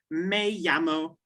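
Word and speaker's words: Me llamo: say my name is we say may yamo can you try that exactly so if you wanted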